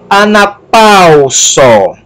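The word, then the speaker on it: ἀναπαύσω: sílaba sigma ômega só ana palsu ana palsu não é a na posso nem é ana paula só mas a sílaba tônica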